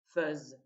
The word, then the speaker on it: fais: Ça s'écrit est, fez, mais ça se prononce, c'est une exception, feuse, dans le cas de cette forme et aussi dans le cas de l'imparfait, puisque c'est la même racine.